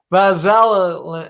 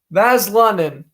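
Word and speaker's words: Vesalainen: From another Finland native, the left winger, Christian Vazala. Oh, wait a minute. Hold on. I got to pronounce that one better. Vaslanen.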